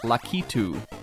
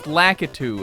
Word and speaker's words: Lakitu: But now that I know that Lakitu is not his Japanese name, we need to stop calling him Lakitu. That's not what he is. He's not. It's Lakitu is what he's called.